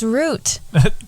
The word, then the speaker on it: route: podcast that Chronicles on our Journeys I said route it's pronounced root that word is pronounced root gole told me the first time